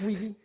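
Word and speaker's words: Weege: actors who were on Barney Miller cuz cuz Ry Wii uh was the you know is that how you pronounce his name it's Wei okay thank you um I've actually heard the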